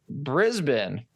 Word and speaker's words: Brisbane: And we did Brisbane, is how that's pronounced, last week.